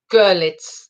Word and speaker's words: Görlitz: Görlitz. The emphasis is on the first syllable. Görlitz. So it's like a U, Görlitz.